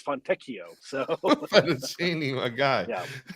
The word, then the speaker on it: Fontecchio: It's not FONTECCHIO. It's not fettuccine. It's FONTECCHIO.